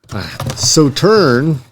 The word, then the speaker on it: Sauternes: So turn and that's not at all how it looks like it's spelled is a uh very renowned sweet white wine from uh the Bordeaux section there in France.